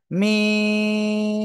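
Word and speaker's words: م: সেটা আগে ক্লিয়ার করি এই মিম অক্ষরটা উচ্চারণ হবে দুই ঠোঁট এর শুকনো জায়গা অর্থাৎ থেকে এরকম জায়গা থেকে মিম মিম ঠিক আছে চার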